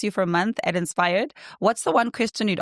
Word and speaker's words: InspHired: for a month at InspHired. Inspired. Do I pronounce it the same as inspired? As inspired. The H is like, it doesn't exist. It's just there for us.